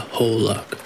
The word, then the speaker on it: aholic: always told stories of the aholic pronounced uh whole luck which are very similar